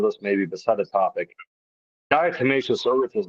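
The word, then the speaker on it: diatomaceous earth: They are covered with d how do you pronounce that Brian? Damascus earth. No, it's called a dietimmacous earth and a lot of people may be familiar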